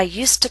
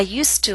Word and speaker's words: used to: pronunciations of the structure when it's followed by a consonant sound we do not pronounce used to with a full vowel sound too becomes too I used to practice regularly I didn't